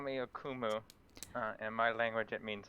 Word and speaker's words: Akumu: You can call me Akumu. In my language, it means nightmare. Oh, that's excellent. Akumu? Did I pronounce that right?